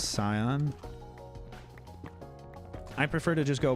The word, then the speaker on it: Scion: I pronounced the Scion part of. It's I-O-N, and it's Scion.